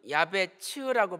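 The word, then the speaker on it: יעבץ: 야베스, 히브리어로는 야베츠라고 발음하죠.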